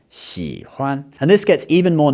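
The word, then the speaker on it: 喜欢: That would be xihuan, okay? It's not like that. It's xihuan.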